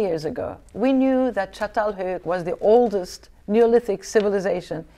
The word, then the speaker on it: Çatalhöyük: We're gonna venture on now to an area, and I'm gonna pronounce this incorrectly, okay. So you'll have to forgive me. I'll tell you. Okay, it's Çatalhöyük. Çatalhöyük.